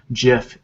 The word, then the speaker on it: GIF: a png um gifs are are the same gifs or gifs depending on how you want to pronounce it jif is the correct pronunciation um so a gif